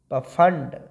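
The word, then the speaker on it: Pfund: उसके बाद पफंड या फंड भी बोल सकते हैं, पी साइलेंट कर सकते हैं।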